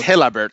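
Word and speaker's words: Gelabert: It's Hellbert. It's pronounced helbert but yes that was that was Marcos Hellbert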